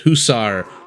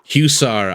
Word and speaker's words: hussar: to the winged sorry I I hear it pronounced hussar husar I think it's pronounced hussar both of them have